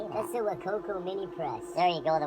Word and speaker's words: Wacaco: That's the WACACO Minipresso.